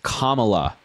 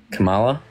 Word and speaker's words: Kamala: say it for me Kamala what say you're mispronouncing her name it's Kamala Kamala comma like a comma in a sentence yeah say comma say